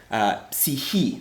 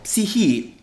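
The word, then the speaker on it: ψυχή: the ancient Greek word psyche. That's how you pronounce it. It looks like psyche, but it's actually psyche is actually how you pronounce it in modern Greek.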